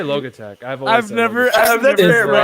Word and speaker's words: Logitech: kind of whipped cream generally it's pronounced logitech i say log attack i've never i have